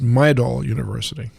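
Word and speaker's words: Midol: right by the way that's pronounced my doll uh middle middle yeah that's a painkiller it's also pronounced middle my doll yeah have you been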